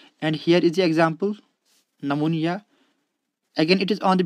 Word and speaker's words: pneumonia: you can see here this pn cluster consonant cluster p and is not allowed in english language that is why we drop this p sound and pronounce it is pneumonia so when we borrow